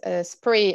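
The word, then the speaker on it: Spraoi: festival that is called spree uh so it's spelt in a weird um gaelic irish way which is s p or a oh i but it's pronounced spree and it means play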